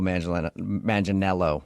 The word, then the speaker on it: Manganiello: Because we talked to him, and he told us that a lot of people say he looks like Joe Manganiello, right?